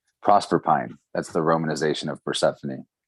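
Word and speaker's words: Proserpine: The romanization is pronounced with pine at the end. Prosper Pine.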